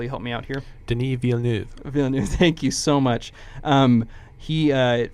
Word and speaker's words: Denis Villeneuve: talked briefly about the director I'm terrible at pronouncing his name his French Eric will you help me out here denis villeneuve thank you so much he for those of